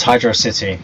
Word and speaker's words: Hydrocity: Not to be confused with Hydrocity Zone, because it's pronounced Hydro City, not Hydrocity.